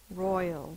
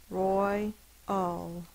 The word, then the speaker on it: royal: Roy, ul. The last sound is ul. Because it's a two-syllable word, one of the syllables is accented or stressed. The other is unaccented or unstressed.